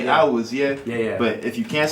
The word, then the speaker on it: Awuzie: But then the last name is Awuzie. That's what I was raised people calling me, Awuzie. So that kind of, you know what I'm saying? That's just a pronunciation that I'm cool with. But then Awuzie, that's like the Nigerian, like straight up Nigerian